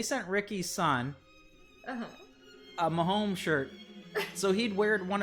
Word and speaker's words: Mahomes: Am I even pronouncing that correctly? I think you are, because I remember for a while I kept thinking people were saying Holmes, like Holmes Road that we used to live on.